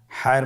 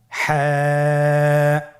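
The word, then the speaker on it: ح: হা হরফটি উচ্চারিত হবে কণ্ঠনালীর মধ্যখান হতে। গলা চিপে ধরে আপনি উচ্চারণ করুন। আপনারা আমার সাথে বলুন হ্যাঁ।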